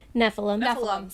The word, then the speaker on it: Nephilim: Nephilim. Sorry. Heffalump. God. Think of a heffalump.